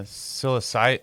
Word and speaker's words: psilocybin: Um, Cyol Fisoliben, I can't psilocybin. Psilocybin. Yeah. Thank you. Yeah. Okay. The P is silent.